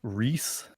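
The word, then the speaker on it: Rhys: It's Ree. I'm going to make the the Borderlands fandom mad at me for saying Reese wrong. Is it like Reese? Yeah.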